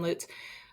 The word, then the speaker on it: Lutes: I'm your host, Jim Hoover, and joining us today is Lutes. Did I pronounce that correctly?